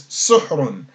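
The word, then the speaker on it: سُحْر: they're also telling us we can pronounce this suhrun. So that means there would be a dhamma on the sin and a sukun on the ha, as there's no vowel between the H and the R.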